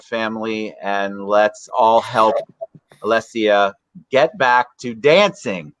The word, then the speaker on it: Alessia: do I say it I said it wrong earlier four times I've said it wrong we almost certified that she'd have her name uh misspelled or said wrong throughout her life because it's Alesia and then she's got